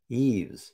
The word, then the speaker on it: Yves: Yves. You know how I know it's pronounced Yves?